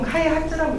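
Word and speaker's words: 開発: 그러니까 일본어에서 한자어를 읽는 방식이 여러 가지가 있거든요. 같은 한자어도 보통 카이하츠라고 읽는다고 합니다. 근데 이 사람이 이걸 서로 카이호츠라고 하니까 왜 카이호츠?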